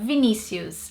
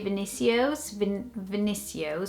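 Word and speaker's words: Vinícius: And in here, we'd probably say Vinicius, which is not that like much different to Vinicius.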